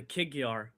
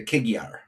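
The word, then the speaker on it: Kig-Yar: So how do you pronounce these guys' names in their own tongue? The Kigyar. The Kigyar.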